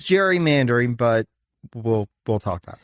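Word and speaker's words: gerrymandering: him to the concept of Jerry or in this instance Gary mandering so it is Jerry mandering but we'll we'll talk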